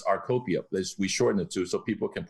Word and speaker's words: Rcopia: drug medication or x-ray you know cornucopia so it's our copia please we shorten it